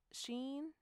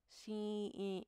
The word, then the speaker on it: Shein: Which one is it? Sheen? Shein. Because it's spelled Shein, and that's Sheen. Shein.